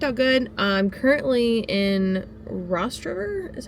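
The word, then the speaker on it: Rostraver: I'm currently in Rost River is how you pronounce it.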